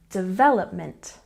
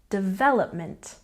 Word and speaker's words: development: and next we have development with a stress on the second syllable development development once again development and next we have